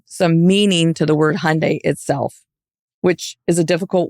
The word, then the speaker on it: Hyundai: um but we always we would always say say Hyundai like Sunday and but it was